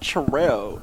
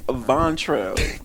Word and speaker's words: Vontrell: Like, My name is not Terrell. It's Vontrell. All 8 letters and 2 syllables.